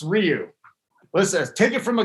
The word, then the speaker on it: Ryu: If you had Hyun-Jin Ryu, it's not Hyun-Jin Ryu. You know what? He gets me. If it's, I've never heard him called Hyun-Jin Ryu though, Captain. I'm not saying you're right. It's Ryu.